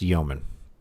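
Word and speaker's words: yeoman: It's pronounced yman.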